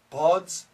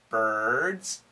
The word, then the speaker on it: birds: turkey birds burgers purple i'll say it wrong four four no four tucky tucky no turkey buds buds no birds bogos pogos no burgers burgers no purple purple now i have a